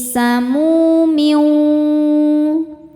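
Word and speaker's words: سموم: Mu hukumnya adalah mad tabi'i dhahiri sebab ada waw sukun sebelumnya berharokat dhammah. Cara bacanya dipanjangkan mimnya 2 harokat. Fi samumiu.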